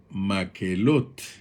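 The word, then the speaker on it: מקהלת: más elote que en el idioma hebreo se pronuncia maquelotte como ya vimos y podemos ir notando hay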